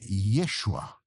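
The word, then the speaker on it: ישוע: No original hebraico, Josué se escreve Yoshua. Joshua. Joshua. O nome de Jesus, no original, é Yeshua.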